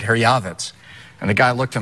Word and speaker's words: Herjavec: Herjavec? You know, the proper pronunciation, you'll be the only guy to ever hear this on TV, is actually Herjavec.